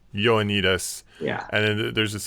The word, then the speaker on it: Ioannidis: It's pronounced Y, I think, Y-O, like Ioannidis. Ioannidis.